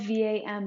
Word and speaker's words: vam: sacral chakra is vum it's spelled v-a-m but it sounds like vam like v-u-m so we'll recite this